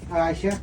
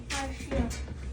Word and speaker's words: Arshia: Aisha? No. Arshia.